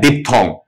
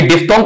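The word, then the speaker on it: diphthong: भी सीख लेते हैं, बीच वाला एच खा जाते हैं, इस पर हम ध्यान नहीं देते आपका, क्योंकि डिप्थोंग का जो स्पेलिंग है DIPH THONG, DIPH THONG, इस तरीके से बोला जाएगा।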